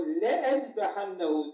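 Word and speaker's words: لأذبحنه: لَاُعَذِّبَنَّهُ عَذَابًا شَد۪يدًا اَوْ لَاَذْبَحَنَّهُ O لَاَذْبَحَنَّهُ diye okuduğumuz fiil, açıp bakın, la diye yazılır, le diye okunur.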